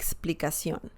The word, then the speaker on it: explicación: easily due to that but just remember their pronunciation la explication like explicacion and this one of course can be plural